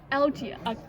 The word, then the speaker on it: Alga: It's Algae. Wait, Yeah, right? yeah, Algae.